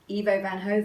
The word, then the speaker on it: Ivo van Hove: Directed, of course, by Ivo Van Hove. And Which we we all know how to know pronounce.